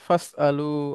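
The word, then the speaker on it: فَاسْأَلُوا: করো ফা আসলে আর ওই ওয়াসলাটা উচ্চারণ হবে না তখন উচ্চারণটা হয়ে যাবে ফাসালু আহলা জিকরি আচ্ছা এরপরে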